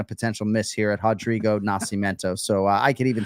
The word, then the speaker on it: Rodrigo: So I did a lot of tape study on him, and that R confuses me because I want to say Rodrigo, but it's Rodrigo Nascimento.